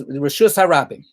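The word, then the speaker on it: רשות הרבים: If we're gonna mispronounce it, then let's mispronounce it the correct way. So it's Reshus Harabim.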